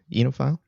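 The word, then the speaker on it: oenophile: right it's a weird it's a weird looking word and it's not pronounced the way it's spelled but yep you know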